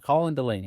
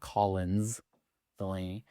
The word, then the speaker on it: Colin Delaney: Colin Delaney. It's not Collins Delaney."